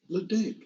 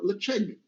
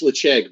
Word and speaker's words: Ledaig: I think everybody said Ledaig. That's my guess. But that is not how it's pronounced, because this is a Gaelic name and it's called Ledaig.